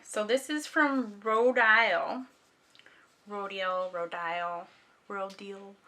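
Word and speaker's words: Rodial: Rodile. Depending on how you want to pronounce it, I'm doing Rodile.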